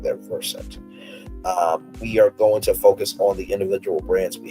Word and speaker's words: Versant: The new company chose Vers um pronounced like the root word root the root of the word conversant to emphasize his versatility and familiarity with multiple subjects.